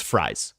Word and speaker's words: Fries: I I looked into it is fries it is not free like uh Matt from